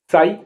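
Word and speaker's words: sigh: उच्चारण राइट इस आधार पर इन शब्दों का उच्चारण करें कैसे एस आई जी एच साई आ भरना एफ आई जी एच टी फाइट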